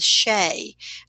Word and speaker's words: Sidhe: Those mounds were called Shea, Sidhe. We wouldn't pronounce it that way, but that's how it was pronounced in the ancient world.